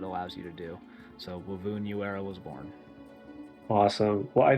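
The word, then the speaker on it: Wy'vun Yu'era: And this is a character of mine, Wovoon Uera.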